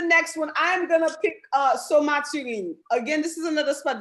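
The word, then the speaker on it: Saut-Mathurine: It's Somaturin. It's spelled Sautmathurine. Somaturin. For the longest, I thought they were saying Saint Maturin. But it's Somaturin. So it's like Somaturin. So it's the largest waterfall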